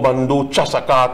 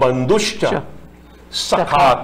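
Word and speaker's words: bandhushcha sakha: We just say twameva bandhu chasaka twameva. Nowhere that is written in the mantra. Twameva bandushcha sakha twameva. That is something totally different.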